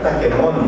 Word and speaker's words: Taquemoni: Mas tá aqui Taquemoni, né?